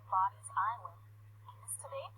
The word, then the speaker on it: Bodie: The original name, Body's Island, is today pronounced Body.